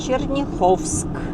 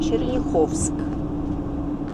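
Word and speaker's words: Черняховск: Заезжаем в Черниховск. Это правильное название, правильное ударение. Черниховск.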